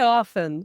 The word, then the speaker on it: often: to when I often so I say it without the T when I often do yes I don't say often I say often right so actually you are saying it the standard way today but historically it has a te in it and this really changed